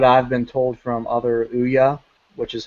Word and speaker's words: Ouya: Like, if people, like, if in most cases, at least this is what I've been told from other Ouya, which is how it's pronounced, Ouya developers, is that their biggest complaint